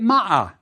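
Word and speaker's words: mꜣꜣ: means the word is pronounced ma the sickle in the first vulture is ma but when we add the second vulture we get MAA the I determinative shows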